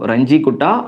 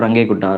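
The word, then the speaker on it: Runge-Kutta: So Ranji-Kutta or Range-Kutta, right? So people are pronouncing like that.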